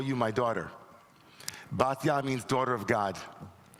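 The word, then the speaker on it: Batya: call you my daughter baa means daughter of God baa basa in ashkanazi pronunciation she merited to become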